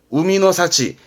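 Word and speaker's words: 海の幸: 열매라든가 그런 것들을 야마노 사치, 바다에서 얻은 거는 우미노 사치, 바다에서 캐어낸 그런 해산물이라든가를 우미노 사치.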